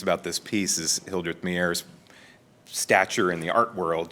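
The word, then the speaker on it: Meier: Mayer. Mayer. As in breathing my air, so to speak.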